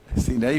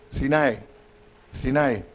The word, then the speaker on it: Sinai: When the people of Israel came to, ¿cómo se dice Sinaí, hermana? Sinaí, pero Sinai. Es como almost Spanish, ¿verdad?